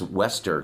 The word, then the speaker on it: Wester: up I keep saying Vester because I lived in Holland and that's how that's how you pronounce W's Travis Wester comes up to him